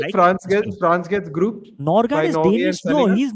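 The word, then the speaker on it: Nørgaard: get France gets grouped Norard is Danish no he's not Norway Norwegian Norard is Danish Christian Oscar. Christian Nargo. That's how he pronounces his name.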